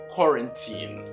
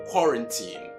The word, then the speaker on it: quarantine: not quite cool then the r a n is run run run and not how you pronounce it and more importantly the